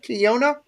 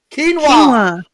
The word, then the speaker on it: quinoa: Kiona? Am I saying it wrong? Quinoa.